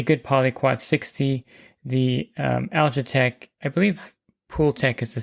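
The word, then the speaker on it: Algatec: It's spelled A L G A T E C. So, it's alitech without the e.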